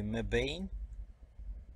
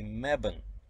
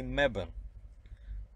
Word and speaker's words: Mebane: Should be Mebane, because E at the end makes A long. And then I go to the coffee shop in the morning, and out of curiosity I ask them, how do you say the name of this town? And they say Mebane. I said, you're joking. They said, no. They said, all locals say Mebane.